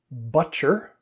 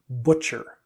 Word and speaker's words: butcher: problem with the vowel the pronunciation that i heard was butcher but actually it's a much rounder sound butcher butcher would you rather